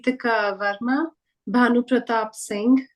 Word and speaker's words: Singh: this is a common surname people tend to pronounce it as Gupta but it's Gupta Manoj shastri Manoj shastri sanj Sing sanj Sing Sing is a very common surname for Indians